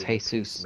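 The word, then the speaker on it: Jesús: helping those in need he's not pronouncing it right it's hey soos maker it's those are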